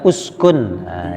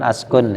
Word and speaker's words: uskun: S kata baru ada uskunah ya cara bacanya uskun Ya bukan askun ya uskun artinya tinggallah